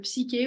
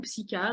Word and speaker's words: Psych-K: Et puis, j'ai un autre outil qui est beaucoup moins connu, qui est le Psyché ou Psycha. Donc, ça s'écrit Psych-K, qui nous vient des États-Unis et qui est vraiment un processus pour venir modifier les croyances.